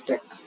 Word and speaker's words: dequeue: Dequeue pronounced as deck has both queue-like operations and stack-like operations.